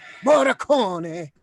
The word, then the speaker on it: Morricone: How do you pronounce his name? Morricone.